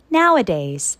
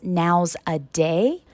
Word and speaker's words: nowadays: Nowadays, adverb these days. Be careful. Many students mispronounce this word as now's a day.